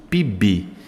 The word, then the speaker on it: PIB: falar para você aqui você pronuncia a palavra PIB como se ela fosse uma palavra você une o p ao i e o i ao B fazendo uma só pronúncia eu chamo isso de